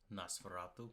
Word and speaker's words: Nosferatu: it I'm more excited for his next one Nosferatu yeah and that's how you pronounce it uh the witch is terrifying the